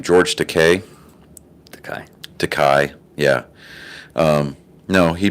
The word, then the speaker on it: Takei: seeds of dissent um what's his name george takei yeah um no he pronounces it to k like really i'm gay that's what he said